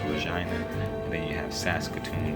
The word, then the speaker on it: Regina: It's spelled like Regina, but it's pronounced Regina.